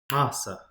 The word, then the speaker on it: Xhosa: Asa. What does that X8 sound like? Well, it's pronounced with a click.